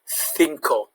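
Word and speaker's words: cinco: your attention the c whenever the c is followed by an e or an i it has a f sound in most places in spain so it will be you see that also in words like the word for five thinkor when the c is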